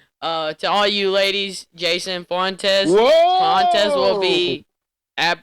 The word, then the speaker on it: Fuentes: So to all you ladies, Jason Fontes, is that how you say it, right? It's actually Fuentes. Fuentes.